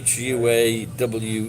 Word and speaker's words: Huawei: So you might pronounce it different in different places, but it's Huawei, I think. The Chinese phone. Yeah, I think that's how you say it. Well, that's how you say it in Japan anyway.